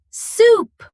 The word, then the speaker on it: soup: Number one, don't order soap. Order s o p soup.